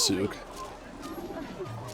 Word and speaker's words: souk: I'm poor and So it is pronounced Souk.